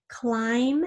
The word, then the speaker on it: climb: words sto are e climb has that silent B at the end third we're going to